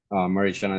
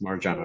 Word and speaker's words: Marjana: Marichana, is it running? Sorry, I keep mispronouncing your name. It's Marjana, right?